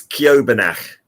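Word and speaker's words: Ceòbanach: Okay, I would call it Sibalak. I'd just say Sibalak. Perfect. But they're wrong. It's Kiobanach. Kiobanach.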